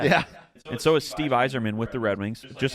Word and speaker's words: Yzerman: First of all, you think the Y is pronounced Y, and you think the E is pronounced E. Long E.